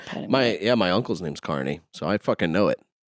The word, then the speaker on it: Kearney: And sometimes I wish I did because my name is spelled Kearney. Yeah. So a lot of people say Kearney, but it's Kearney, Yeah.